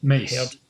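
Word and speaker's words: Myss: You get people like Louise Hay and like Byron Katie and Caroline Mice or Miss. I've never heard. Mace. Yeah. That's how you pronounce her surname.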